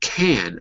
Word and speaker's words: can: If we're saying it positively without the T, we don't say can, I can do it. We say can, usually. So the positive is like, yes, I can. Imagine it's spelled K-E-N, like Ken and Barbie.